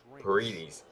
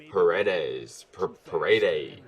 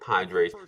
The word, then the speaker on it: Paredes: I don't know how to say it because I keep thinking Padres every time I see it, but it's not Padres because that is an R and not a D.